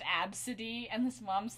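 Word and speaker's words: Abcde: this girl whose name was ABCD and it's pronounced AB City and this moms like sued him and like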